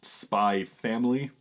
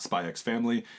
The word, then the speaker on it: Spy x Family: as spy x family which for the record is pronounced spy family not spy x family it's it's the whole